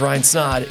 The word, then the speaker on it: Snod: My name is Ryan Snod. It rhymes with odd, and you're listening to the Rhymes with Odd podcast.